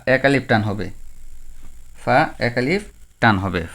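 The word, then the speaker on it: فاء: হবে ফাটা কি হবে এটা পা হবে না এটা যদি কেউ বলে পা এটা ভুল পা নয় নয় এটা হবে ফা ফা ফা ফা ফা এক আলিফ টান হবে ফা এক আলিফ টান হবে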